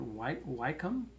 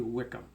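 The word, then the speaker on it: Wycombe: this team Wickham and i pronounced it white wykeham something like that it's actually Wickham i'm sorry i blew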